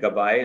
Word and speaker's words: Gabbay: Gabbay is the proper pronunciation.